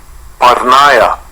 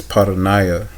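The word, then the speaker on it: πορνεία: Parnaya. Parnaya. I pronounced that wrong. Sorry about that. It's paranaya. Paranaya.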